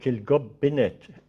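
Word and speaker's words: Kilgobinet: They pronounce it Kilgobbinett, there's an I where we don't have an I.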